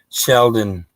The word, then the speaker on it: Sheldon: it's all low case yeah Tom she is pronounce it Sheldon no vowels there's not an L on it